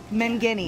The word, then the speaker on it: Mangini: I've never known how to pronounce that. Mangini.